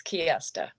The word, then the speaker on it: Kirsta: Is it pronounced Kirsta? Are we getting that right? Yes, it's Kiesta.